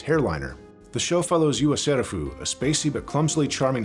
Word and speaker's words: Yua Serufu: And if at first you miss the fact that Yua Serufu sounds an awful lot like the Japanese pronunciation of yourself, oh, don't worry, the show will remind you, repeatedly.